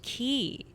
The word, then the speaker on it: quay: Oh, Key. It's pronounced Key.